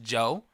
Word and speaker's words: Djo: I want to say it's pronounced Joe, but it's DJO, right? His Slither, the song Slither is what I found in 20, what year was it?